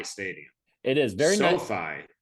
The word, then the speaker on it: SoFi: SoFi rhymes with so high.